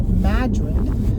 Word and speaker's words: Madrid: away um backtrack back to that town called Madrid spelled like Madrid but they pronounce it Madrid we're going to go back there they have